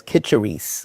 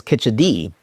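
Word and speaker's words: Khichdi: I heard it as Kitcheri, K-I-C-H-E-R-I. But I believe the official pronunciation is Kitchedi with a D.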